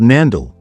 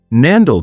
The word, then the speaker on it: Neanderthal: has no basis in the original German word which is pronounced always with a t regardless of the historical spelling nandal one the type